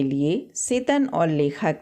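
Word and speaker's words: Tsetan: तो यहाँ देखिए वर्ड है यहाँ सेतन, और यहाँ पर टी साइलेंट है, जस्ट लाइक सुनामी में जैसे साइलेंट होता था।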